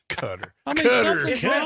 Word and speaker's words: Qatar: half they flew to Qatar for nothing nothing Qatar cutter that was like 10 different ways I could pull up NBC pronounce it just like that Tom